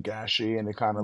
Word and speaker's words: Gashi: The real way to pronounce it is GASHI.